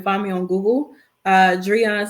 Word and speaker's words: Driune: me on google uh jurian that's how you pronounce my name for those who may have been wondering how to pronounce it uh but not drew in which a lot of people like to pronounce it that way i see you guys like to switch to you and the eye around i don't know why but it's just not how you pronounce it yeah that's everybody like